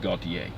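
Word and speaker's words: Gautier: eastbound side near gaultier GA you ti er I believe that's pronounced Gaultier so the news report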